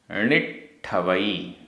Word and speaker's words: णिट्ठवई: णिट्ठवई, आधा ट ठ, णिट्ठवई, णिट्ठवई।